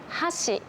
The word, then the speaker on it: 箸: という風に日本語はピッチ同じ発音でもアクセントが違うと意味が変わるものというのがいくつかあります。有名なもので言うと箸と橋箸は箸で